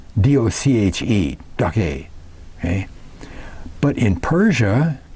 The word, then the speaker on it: Doche: It's Dochar, Doche, D-O-C-H-E, Doche.